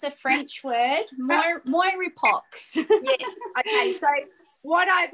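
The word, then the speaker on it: mirepoix: onions together who knows it's a french word moire pox yes okay so what i've also done um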